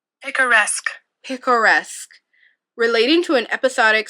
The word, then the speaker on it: picaresque: Let's figure out how to pronounce this word, because I've been thinking that it said picturesque. Hold on. Picaresque. Okay, one more time. Picaresque.